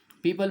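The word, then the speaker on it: people: पीपल बोलते हुए आपको अच्छे से प्रैक्टिस होनी चाहिए। बहुत से बच्चे पीस की प्रोनाउंसिएशन डिफरेंट तरीके से करते हैं। असल में ये पीपल का जो पेड़ होता है, बिल्कुल जैसे हम उसे बोलते हैं ना पीपल, बस वही प्रोनाउंसिएशन है इसका, मोस्ट ऑफ द पीपल।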